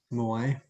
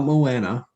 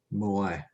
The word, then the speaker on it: moai: Okay, as a Moai. Yeah. That's what we think it's pronounced that way. Moai. Not Moana. Moai.